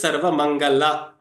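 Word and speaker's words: सर्वमङ्गला: But please make sure you don't pronounce this as La. It is Sarva Mangala, Sarva Mangala Mangalyam, Sarva Papa Pranashanam.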